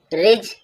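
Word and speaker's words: ridge: किसी से ईर्ष्या करना रिज रिज मींस पर्वत डी साइलेंट है। डी के बाद जी आ गया है।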